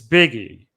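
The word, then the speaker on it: Bigge: when I was gone Hunter how do you pronounce his last name biggie it's biggie yeah he was called back up and Pitch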